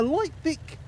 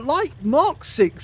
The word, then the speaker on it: Light Mk VIC: uh light Mark 6 see cuz I almost said it wrong is not the light Vic A lot of people think that's the name it's not the name it's actually a six in Roman numerals with the c and they only made